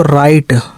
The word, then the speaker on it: write: जब W जो है किसके पहले आता है, R के पहले आता है, तो W का उच्चारण नहीं होता है। जैसे WRITE तो क्या पढ़ेंगे इसको, राइट, ठीक है।